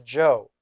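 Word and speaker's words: Chou: new kind of Dynasty the Joe c-h-o-u as I used to spell it pronounce Joe the Joe Dynasty and the book that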